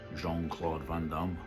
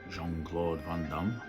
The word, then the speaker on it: Jean-Claude Van Damme: maybe because the people don't know how to say his name correctly in French it's supposed to be like this I would say Jean-Claude Van Damme Jean-Claude Van Damme you have to say like French the French accent going we and when